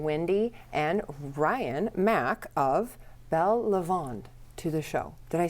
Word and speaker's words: Belle Lavande: So I'm welcoming Windy and Ryan Mack of Belle Lavande to the show.